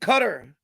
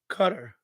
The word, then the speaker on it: Qatar: bunch of games foreign Qatar I pronounce it cutter Doha cutter yeah so I'm not